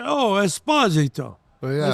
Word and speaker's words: Esposito: Like Esposito or Esposito. That's what, like Italian people, when I went to Italy, they say, "Oh, Esposito." Oh, yeah. I said, no, Esposito. The second syllable.